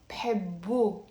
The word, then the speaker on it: بحبه: بحبه. Okay, so that's why you have the letter he, which is silent in the end, and the dhamma on the be before, as you can see in the text.